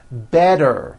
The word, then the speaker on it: better: Better becomes better. She's feeling better.